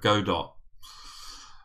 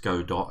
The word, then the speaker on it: Godot: of this program called Godot and I believe that he's pronounced Godot as in robot so I believe that